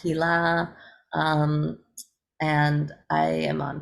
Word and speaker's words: Hila: Hila is spelled with one L. It's also pronounced Hila.